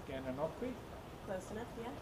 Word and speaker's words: Gananoque: Oh, you're going to have to forgive me if I don't pronounce the name right. Gananoque? Close enough, yeah. Gananoque. Gananoque.